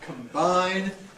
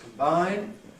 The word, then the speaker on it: combine: uh here we have combine and combination and again you can see that the prefix is come when is unstressed combine but strong Cal when it's stressed in this case by